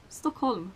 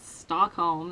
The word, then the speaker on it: Stockholm: Stockholm. That's how you pronounce it, not Stockholm. That sounds so fucking weird.